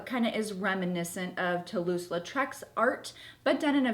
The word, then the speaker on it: Toulouse-Lautrec: They've got that Art Nouveau thing going on, kind of the Louis-Lautrec. I said his name wrong. Toulouse-Lautrec.